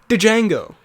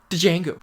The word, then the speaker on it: Django: is my second favorite django django the d is silent though as he says